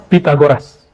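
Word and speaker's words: Pythagoras: Yang Pitagoras. Kita kan pita ya, salah itu pakai ta. Pitagoras. Ini versi Arabnya. Kalau versi Sundanya pi. Pitagoras. TH itu bacanya ta.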